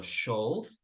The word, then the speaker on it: should: Should, noten que no voy a pronunciar la L ni la O. ¿Ok? Entonces no digo should, digo should. Should.